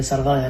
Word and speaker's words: سرغايا: تعني المنطقه المرتفعه مثل منطقه السرجويا اللي بيقولوها ان سرغايا لكن الفلاحين بيلفظوها تماما مثل ما بتلفظ بالكوردي سرجويا يعني راس الدغل وعننا كمان